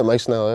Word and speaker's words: Mike Snell: My boy, Mike Snell. Wagwan. What's good? Appreciate you making the time, bro. Yeah, man. I pronounced that right? Yeah, Mike Snell.